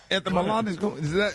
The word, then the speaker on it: etymological: Etymological.